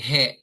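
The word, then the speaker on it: へ: Okay so si particle e ang original sound niya ay he. Ngayon kapag siya ay particle na nagiging e na po yung kanyang pronunciation.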